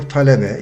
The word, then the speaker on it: talebe: Öğrenci or talebe is the same thing. Talebe, T-A-L-E-B-E, talebe. I think it might be easier for you to pronounce maybe.